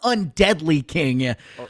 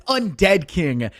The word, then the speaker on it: Undead King: respect on his name it's not undeadly king like he called it after that first kill it's undead king anything but undeadly as two kills dropping